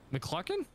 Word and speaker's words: McCluckin: McCluckin? McCluckin! What does Cluckin rhyme with? F***ing.